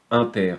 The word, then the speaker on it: inter: de haine très arrondi on le prononce en général inter on va dire a inter B un élément appartient